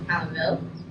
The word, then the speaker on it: Palenville: It was really Palenville. Oh, Oh, you just decided to say Paladin?